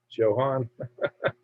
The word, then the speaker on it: Johan: So you know, because I know people pronounce the J as a Y, so it kind of makes me want to say that, but I know it's not right. It's Johan.